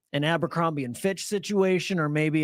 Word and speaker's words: Abercrombie: No, I call it Amber. No, it's Abercrombie. And I just got corrected like 2 weeks ago.